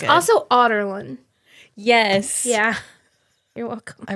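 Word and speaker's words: Adarlan: so sometimes she says ardalon yeah like there's an r in the first syllable but it's actually in the second syllable and the narrator actually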